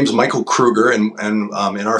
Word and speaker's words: Kroeger: my name is Michael Krueger and and um in our family we're pronounce it Krueger with the like uh it sounds like two o's or a u um and uh I